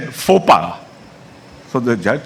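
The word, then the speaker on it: faux pas: to him at one point the gentleman said fopa so the judge said fopa did you say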